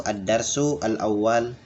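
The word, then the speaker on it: الدرس الأول: Ingat Bapak ya, cara bacanya itu Ad-Darsu al-awwal, Ad-Dars atau Ad-Darsul awwal.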